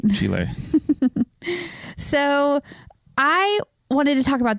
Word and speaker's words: Chile: want to like Chile have a Spanish pronunciation Chile yeah all right Chile there you go you've been learning Spanish so got to get those words right Chile so I wanted to